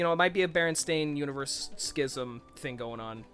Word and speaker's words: Berenstain: i always i always remembered it as being pronounced berenstain oh oh oh found it oh hey we